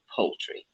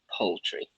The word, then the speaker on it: poultry: First, look at the transcription. See p, u, ho, whole, poultry. Two syllables, pretty much. First one, poultry, poultry.